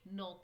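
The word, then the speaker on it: knock: इसमें डब्लू आ जाएगा इसमें नॉक में के आ जाएगा मेक अपोजिट फ्रॉम द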